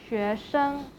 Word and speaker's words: 学生: Actually, 学生 in a single word they will pronounce as 学生, 学生. But if we put 学生 into a sentence, the 生 in 学生 will be pronounced in the neutral tone.